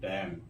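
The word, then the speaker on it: damn: ब ए एम एन इससे पढ़ेंगे डम यानी एन क्या है साइलेंट है तो जो कॉलम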